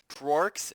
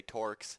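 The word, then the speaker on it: Trork: Tworks, I said it right this time. I know you guys get mad when I say Torks. It's a silent R, by the way.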